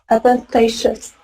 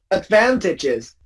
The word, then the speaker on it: advantageous: Advantageous. Excellent. Yeah, because most people will say instinctively advantages. But no, you know, English is weird.